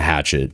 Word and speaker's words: Hachette: It's pronounced in English. Yep. The hatchet is what, yeah. Hatchet.